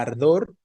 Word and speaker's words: ardor: La palabra ardor es una palabra aguda porque su fuerza está, su tonicidad está al final, en la última sílaba, ¿no?